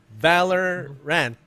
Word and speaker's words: Valorant: i saying it right it's two words valor and ants you and you have the best ant in the world his name is valerian there you go okay so valor rant okay i'm just saying